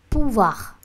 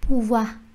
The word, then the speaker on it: pouvoir: Pouvoir. Chúng ta sẽ không đọc là pouvoir mà sẽ là pouvoir.